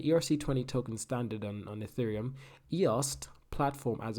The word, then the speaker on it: IOST: this is eos and this is eost so that's the difference there's a t so i must pronounce it i must remind myself to pronounce the t i do apologize anyway